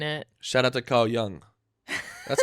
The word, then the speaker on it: Jung: Shout out to Carl Jung. That's how you pronounce it, right?